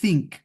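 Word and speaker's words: think: বা আলিফ বা তা সাটা যেরকম পাতলা করে বলতো এই সার মত উচ্চারণ করতে হয় সিংক আই সিংক আমি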